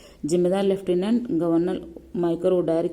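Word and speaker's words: Michael O'Dwyer: अच्छा, कितना इस जनरल डायर हम लोग लगा देते हैं, इसने उत्तर मारा है माइकल ओ ड्वायर। तो ये सही प्रोनाउंसिएशन का था, तो इसको ये उत्तर माना गया है।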